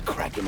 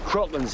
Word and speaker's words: Kraken: No. Kraken's how it's pronounced in the original Scandinavian. But what happened was Kevin McNally was the first character to actually speak the name of it, and he pronounces it Kraken.